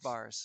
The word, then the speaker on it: Bars: The silent E is actually silent. Ah, There isn't. It's as if there was no E at all. It's just Bars.